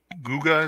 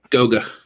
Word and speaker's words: Guga: The Guga, is that how you pronounce that man's name? Goga. Goga.